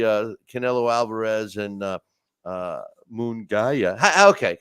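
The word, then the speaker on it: Munguía: Canelo Alvarez and uh mongaya okay am I saying it wrong Hae mongaya ha Hae mongia mugia that's right Mia right I know I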